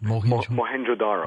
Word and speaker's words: Mohenjo-daro: this town you just mentioned how do you pronounce that mohenjo daro Mohenjo-daro could not have been caused the melting